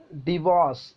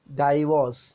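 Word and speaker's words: divorce: omelette next പദം നോക്കൂ ഡിവോഴ്സ് നമ്മൾ ഉച്ചരിക്കൽ എങ്ങനെയാണ് ഡൈവോഴ്സ് ഡൈവോഴ്സ് ആയോ ഡൈവോഴ്സ് ആണ് എന്നല്ലേ പറയൽ ശരിക്കും ഡിവോഴ്സ് കറക്റ്റ് ഇനി അടുത്ത വാക്ക് നോക്കൂ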